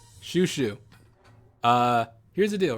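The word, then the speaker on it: Shushu: People are gonna pronounce that as Choo Choo. They might even say Chow Chow. It's Shoo Shoo.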